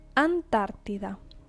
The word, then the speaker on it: Antártida: Antártida. Antártida is Antarctica. Antártida. Remember the tilde on top of the A here, Antártida.